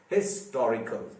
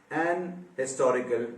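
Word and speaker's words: historical: हिस्टोरिकल, H pronounce हो रहा है इस दफा, ऑनर के जैसे नहीं है ये बात। यहां का एच आता है प्रोनाउंसिएशन में, ये सबसे पहले आपके कानों से टकराता है, लिहाजा आप अ हिस्टोरिकल event, a हिस्टोरिक moment कहेंगे आप, ठीक है ना। एन हिस्टोरिकल नहीं कहेंगे।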